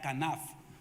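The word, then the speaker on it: כָּנָף: Esta alas es una palabra hebrea, kanaf. Así se pronuncia. K-A-N-A-F, P-H, kanaf, alas.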